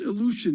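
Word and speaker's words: Ilyushin: I believe it's pronounced illusion.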